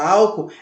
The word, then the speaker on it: álcool: hora de separar, mas a separação de sílaba da palavra álcool é AL, acento no A, ALCO-OL. Perceberam? O O fica separado na palavra álcool. São dois O, mas um fica separado do outro, causando, então, trazendo para